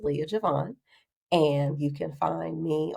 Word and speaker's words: Leiya J'vonne: So LeiyaJvonne is pronounced Leah Javon.